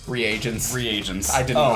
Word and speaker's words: reagents: i have no idea what they are they're regions reagents reagents i didn't know how to say it